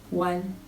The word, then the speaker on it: one: mais on dit one ça se prononce comme si c'était un W A n one 2 c'est tout donc